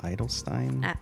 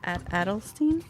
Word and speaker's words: Adelstein: I love hearing you pronouncing uh for five points. Paul Idolstein. Adelstein.